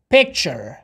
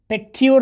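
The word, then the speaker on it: picture: به گونه مثال پیکچر، پیکتیور نمیخوانیم. چرا؟ تیو گفتیم. صدای چیه میده بچه ها؟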